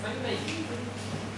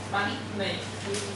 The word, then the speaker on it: Bánh mì: Bánh mì. Bánh mì. So, and how do you spell it?